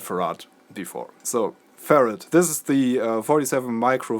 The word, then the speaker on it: farad: farad I was told that farad actually comes from faraday so threat is the right way to pronounce it in germany will save her art or farad that's actually wrong so I'm just trying to say farad from now hunt which is the correct way I said for